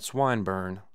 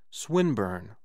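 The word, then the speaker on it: Swinburne: swatted meant this man swine bur he began attempting to put his plan into execution and pronouncing ing the eye long who swinburn he repeated with the same mispronunciation the poet swinburn she corrected yes that's the chap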